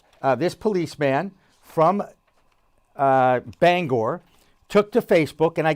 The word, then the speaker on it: Bangor: i worked in maine you pronounced the name bangor not banger okay bangor very simple very very particular about that my friend tim throckmorton